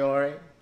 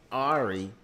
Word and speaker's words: Ari: uh it's your boy ori ari my name is pronounced ari for those who are wondering i don't know why i pronounced my name wrong but yeah um yeah